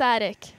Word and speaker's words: Attic: Now, you might help me with the pronunciation if it's not Attic. Oh, yeah, is it Attic? It is Attic? It is Attic.